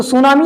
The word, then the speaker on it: tsunami: अब इसमें टी जोड़ दिया गया ये अलग से, लेकिन ये अंग्रेजी शब्द है ही नहीं। तो ऐसे चूंकि साइलेंट होने का एक और कारण है कि ये अलग अलग भाषाओं से लिया गया है। अब ये जो सुनामी शब्द है ये जापानीज वर्ड होने के नाते इसमें टी जुड़ा है।